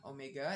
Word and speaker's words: omega: Omega itu bacanya omega ya, bukan V.